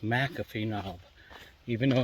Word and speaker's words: McAfee Knob: And according to him, being a local, it is pronounced McAfee knob, even though it's spelled M-C-F-E.